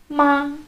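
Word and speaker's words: mā: If I were to say M-A in the first tone, it wouldn't be ma, it'd be ma.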